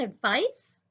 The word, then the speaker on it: advice: and to the pronunciation the see and advice it sounds like an S and advice is the